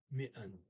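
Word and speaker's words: midten: e in the middle mitten there's a dt there in the middle of that you don't pronounce okay and next sentence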